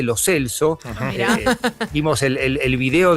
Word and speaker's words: Lo Celso: Todos le decimos lo Chelso, él dice lo Celso.